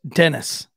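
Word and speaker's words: Dinnese: his name was d-i-n-n-e-s-e the detective wrote parentheses pronounced dennis d-e-n-n-i-s what she wrote that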